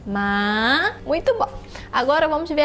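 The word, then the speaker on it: 马: E se fala ma no terceiro tom, ma.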